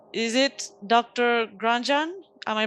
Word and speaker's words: Grandjean: Grandjean? Am I pronouncing Grandjean? Yeah, I'm a quarter French, so it's Grandjean.